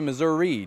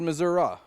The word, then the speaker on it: Missouri: Many folks do say Missouri down here in Dotto, though a fair number said Missouri.